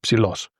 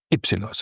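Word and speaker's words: υψηλός: You would just leave the epsilon away and you say psilos. O andros mo in psilos, to spiti in psilo. In this case, because it's newspaper speak, it's a little more formal, you would say ypsilos.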